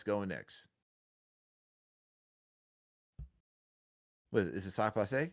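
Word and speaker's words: sak pase: Sock passe? How do you say it in Haitian, man? You said it right. You said it. Okay. Sock passe.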